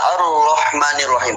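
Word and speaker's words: الرحمن الرحيم: Rahmah berarti ada roh mati kemudian ada ro keduanya itu huruf yang berharakat fatha. Jadi dengan supaya hurufnya tidak terlalu banyak maka dibuatlah tanda tasdid tadi. Sehingga cara bacanya harus ditekan sedikit.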